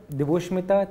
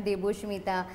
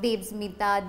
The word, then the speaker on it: Deboshmita: I'm Deboshmita. So ऐसे प्यारे प्यारे नाम होते थे. But Deboshmita to spell and to pronounce the name also half of the people would goof up.